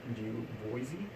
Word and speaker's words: Du Bois: or Webb Du Bois, or Boys is how I guess that's how you say it.